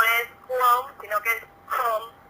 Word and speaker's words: Qom: Cuom, sino que es Com, y se pronuncia como más gutural en la lengua de ellos, porque Cuom significa ombligo, ¿no?